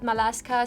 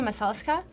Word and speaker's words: Masalska: Some spell it Malaska, some Alaska, Masalka, but it's actually Masalska.